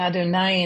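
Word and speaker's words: אדני: But for Adonai, we're not reading the letters literally, and Right. we're saying Adonai instead of Yud Kei Vav Kei.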